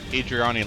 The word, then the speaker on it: Eridani: When it comes to mercenary outfits, I tend to roll with the Adriani Light Horse. Or Eridani. I think it's pronounced Eridani.